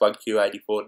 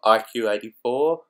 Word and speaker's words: 1Q84: It is a play on the title 1984.